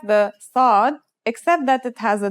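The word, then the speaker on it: صاد: lesson is s The Sod is basically the strong version of the scene we learned in the last lesson and it's kind of sounds like the s in the word saw this sound is pronounced with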